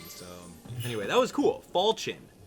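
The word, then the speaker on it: Falchion: anyway that was cool fall chin like falling on your chin that's how I remember it I used to call it the Fon it was crazy it's crazy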